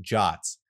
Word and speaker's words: JWT: Firebase Auth deals in JSON web tokens, known as JWTs, pronounced JOTs. These underpin every Firebase user, whether they're signed up with email, phone, Google, or any other IDP.